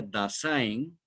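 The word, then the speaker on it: Dasein: su idioma alemán da que se escribe se pronuncia dasin que es una palabra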